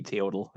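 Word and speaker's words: teotl: Lucha T EO TL I don't know if it's Lucha t or how that is pronounced but I think it would be tootal that's kind of like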